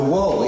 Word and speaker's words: Wohl: Can you tell us a little bit about the, I'm probably pronouncing it wrong, the WOHL Wall? The Wall, yeah.